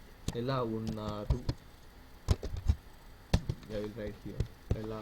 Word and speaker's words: ఎలా ఉన్నారు: When you use మీరు, we should pronounce it as ఎలా ఉన్నారు.